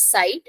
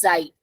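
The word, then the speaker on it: Zeit: Z Zite Z yeah we'll not pronounce it as site it is Zite Z and if a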